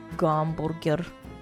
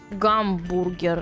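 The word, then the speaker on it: гамбургер: and I saw it and I was like gamburger. Why in Russian do they say h gamburger and not hamburger?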